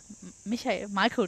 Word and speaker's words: Michael: Michael Daub. You were going to go very German with that then. Michael. Well, he is German. So. Yeah, exactly. So is that how he would pronounce it?